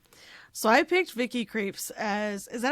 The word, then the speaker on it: Krieps: So, I picked Vicky Creeps as, is that how you say her name? Creeps.